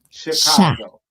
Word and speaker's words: Chicago: It's it's Well, it's chi. It's like shy. Chicago.